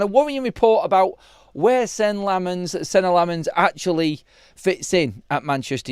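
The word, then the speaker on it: Senne Lammens: Taking away the fun and the Mancunianness out of my show, but it is Senna Lammens is our new goalkeeper. That's how he has pronounced it on a video put out on YouTube at Manchester United today.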